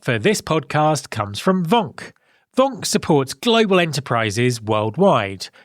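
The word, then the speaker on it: Vonq: And Vonk is spelled V-O-N-Q.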